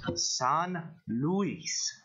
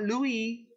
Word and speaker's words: San Luis: akkad that it is pronounced San Luis not Louis Lewis s espanol not Halle